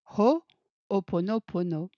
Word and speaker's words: Ho'oponopono: Aujourd'hui, je suis avec Jennifer et ensemble, nous allons explorer en conscience le sujet Ho'oponopono qui normalement devrait se prononcer Ho'oponopono.